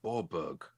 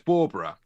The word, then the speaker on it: Bawburgh: oh it's cold i've can feel it in borbog don't know what they're talking about these scottish people um so it's barbara and we i want to tell you about